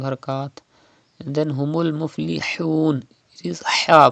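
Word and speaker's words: الْمُفْلِحُونَ: And then humul muflihun. It is ha, pronounced from the middle part of your throat like this.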